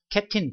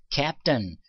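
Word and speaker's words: captain: 자, 근데 캡틴 발음이 틀린 거예요. 발음 기호를 보시게 되면 어떻게 나와 있습니까? 캡까지는 맞았는데 T 소리가 나냐 나는 건 아니라이가 거꾸로 간 거는 어 소리 난단 말이야. 그래서 cap턴 손으로 간다라는 거야.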